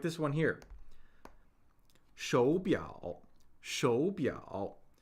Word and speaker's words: 手表: So we see two third tones, which creates, this involves the third tone Sandy rule. So in a word that has two third tones, we pronounce the first of the pair as a second tone. This is for convenience, right? We don't want to have to be like shou biao, shou biao.